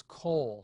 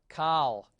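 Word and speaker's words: כל: a closed unaccented syllable you must read this as Cole not Kyle if you read call that's a that's a terrible mistake you must read this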